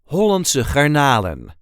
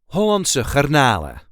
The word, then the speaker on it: Hollandse Garnalen: Normally we would not pronounce the last N, so it would be Hollandse Garnalen. There is a light emphasis on the second part of the second word.